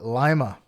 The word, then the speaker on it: Lima: There is a Lima town in New York State, and the denizens of that town call it Lima, and it's spelled like Lima. Yeah, like in Peru.